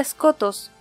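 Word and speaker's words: Skotos: En realidad se pronuncia escotos.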